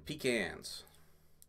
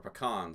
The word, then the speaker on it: pecans: time that we don't getting pecans or pecans depending how you say it we go for the